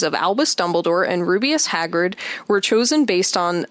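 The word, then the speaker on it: Rubeus: Um, Hagrid's first name, Rubious, is a phonetic variation of rubious. It's spelled differently, but uh, rubious as in a ruby u, meaning a red or ruby color.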